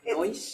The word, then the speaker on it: Noyce: Savansky with, I don't know how to pronounce, Noyce? It's NOICE, but it has an acronym.